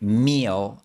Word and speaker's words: meal: Esta vocalización de L también es la razón por la que meal en inglés suena muy similar a mío en español.